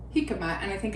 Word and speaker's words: jicama: It's spelled jicama. It's with a J, but it's jicama, and it's like a celery root.